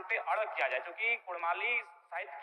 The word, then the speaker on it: कुड़माली: र के स्थान पर अड़ किया जाए क्योंकि कुड़माली साहित्य की बात करें तो अड़ का महत्त्वपूर्ण